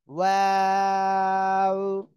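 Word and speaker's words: و: মাশাআল্লাহ, ওয়াও, এভাবে উচ্চারণ করতে হবে।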